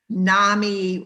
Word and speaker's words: NAMI: we we in minnesota say nami rhymes with mommy you know um suzanne will tell us that mommy started nami and so that's how we remember it here but i've noticed